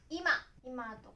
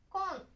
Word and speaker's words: 今: Nó có thể được đọc là "ima" hoặc "kon".